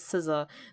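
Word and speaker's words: SZA: other artists such as Sousa that's spelled out s Z a schoolboy q and the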